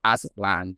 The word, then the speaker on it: Aztlan: Yeah, it's it's a really trippy word, you know, ancient Atzlan then that's spelled a n c i e n t a z t l a n. That's Atzlan and it's kind of like a silent z.